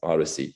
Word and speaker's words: OHDSI: So an example of this is this network called Odyssey, OHDSI, but they pronounce it Odyssey, which combines de-identified EHR data from 52 databases from 4 countries.